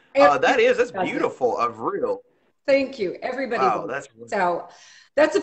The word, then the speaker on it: Avril: just one point business everybody has a hard time with my name and they want to go to the Old English pronunciation or that famous Canadian singer but my name is actually pronounced of real now some of my